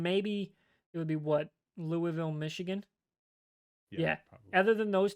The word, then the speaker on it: Louisville: So looking at this, Georgia 1, Ohio State 2, Michigan 3, Florida State, Washington, Oregon, Texas, Alabama, Missouri, and Louisville in the top 10. Or Louisville.